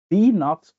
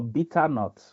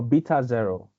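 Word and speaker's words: β₀: And this is pronounced as B naught or beta naught or beta zero. So to make it short, informally, people call it B naught, but the right term is beta naught or beta zero.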